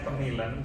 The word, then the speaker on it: KMILN: promosi bapak-bapak ibu-ibu sekalian k k m LN atau bacanya kemilen kita bacanya ini adalah kartu